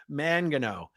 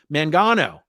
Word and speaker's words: Mangano: my last name oh Mangano Mangano hence Tampa B man oh now I understand thank